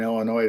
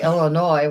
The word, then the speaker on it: Illinois: I still think us backwards people here in Illinois don't know how to pronounce UK names well we say Illinois when it's Illinois no it's not Illinois it's